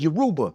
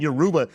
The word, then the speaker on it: Yoruba: He's like, okay, Igbo, my boy is Yoruba.